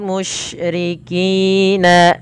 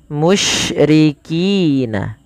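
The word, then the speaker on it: مُشْرِكِين: Kemudian walal musyrikina ayunazzala musyriki. Ada syin ya di sini ada huruf syin. Hati-hati dalam melafalkan huruf syin tidak boleh terbaca dengan huruf sin teman-teman.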